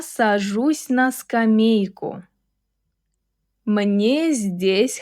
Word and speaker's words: здесь: Здесь has a soft Z, followed immediately by D. We say здесь, здесь.